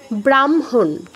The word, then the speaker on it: ব্রাহ্মণ: হটা পরে উচ্চারণ হচ্ছে তারপর ব্রাহ্মণ ব্রাহ্মণ ব্রাহ্মণ এটা কি হচ্ছে আমার ওই হ এর সাথে ম যুক্ত আছে মটা আগে উচ্চারণ করছি হটা পরে উচ্চারণ করছিতো এই হচ্ছে আমার হ